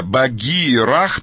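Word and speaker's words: Bagheera: Имя Багирах пишется B-A-G-E-E-R-A-H. То есть там Рах сзади. Там главное, Багирах. Что это значит для переводится, фар. Переводится и читается по-русски как Багир. Это имя, Багир.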